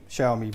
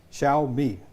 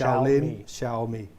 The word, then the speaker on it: Xiaomi: uh name shomi wrong so here's an easy way to remember how to pronounce it right you know shaoling Kung Fu oh yeah yeah shaoling Kung Fu sha me pronounce it like that and you'll get it right every time it's not ji it's sh Shia me there you go guys